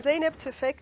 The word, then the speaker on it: Zeynep Tufekci: and cry here um but uh so I'm zip toi and uh I wanted to I I've been